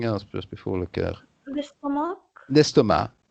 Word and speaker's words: estomac: The C is silent. Right. So C is silent. it's l'estomac, even though it's written with a C. It's a silent C, like often in French, last words are silent.